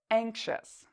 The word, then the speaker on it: anxious: answer you are correct ious in this word is pronounced as a chess anxious so this is very different from how we spell this word if you looked at the spelling you might think it was pronounced as is but in fact we pronounce it as chess what about the next